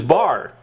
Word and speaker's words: Barre: your last name because we always thought it was Barr it is bar because I thought I thought I don't know if he was kidding or what but he kind of taught you know pronounced almost like a French name right Barry yeah okay um